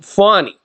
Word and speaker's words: Fani: more ways than one prosecutor engaged by Fanny pronounced fonnie Willis to persecute Trump for crooked Joe Biden